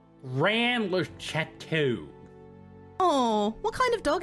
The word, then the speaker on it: Rennes-le-Château: I'm just saying Rennes-le-Château. That's the way it's supposed to be pronounced. In French. Rennes-le-Château.